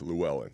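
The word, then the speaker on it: Llewellyn: No, I can't I'm not even going to try to pronounce that. How do you even How What is that? It's Luwellen.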